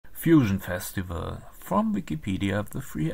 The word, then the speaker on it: Fusion: The festival name is often depicted in Cyrillic letters as Fusion, but pronounced like the English word fusion.